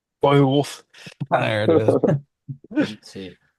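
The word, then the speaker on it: Beowulf: Wait, Brainard, how do you pronounce it? Bay Wolf.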